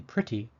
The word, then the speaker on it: pretty: vowel letter number four the e in pretty sounds like a short I or I the symbol I am